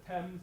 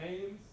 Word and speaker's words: Thames: So, I know you might want to pronounce it the Thames, but in New England it's the Thames, and there's Narragansett Bay.